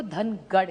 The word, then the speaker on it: धनगर: एक तो धनगर समाज की बड़ी मांग है कि उनको ट्राइब में धनगर, महाराष्ट्र मराठी में धनगर कहते हैं, नॉर्थ में उसी को धनगढ़ कहते हैं। सो इट is only a pronunciation thing.